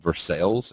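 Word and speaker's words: Versailles: from currently I live in local areas called versales everywhere else in the world it's pronounced versa obviously so I do 100% believe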